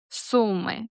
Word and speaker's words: Sumy: The pronunciation is pretty straightforward. Sumy.